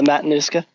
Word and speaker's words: Matanuska: And part of our outdoor adventure for the summer, was meeting you at the Matanuska, I believe, am I saying it right? Matanuska Glacier? Yeah, the Matanuska.